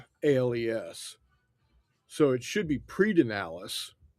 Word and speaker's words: Pedernales: I'm used to Pedernales Falls, and Pedernales Falls is spelled Yeah, Predenales.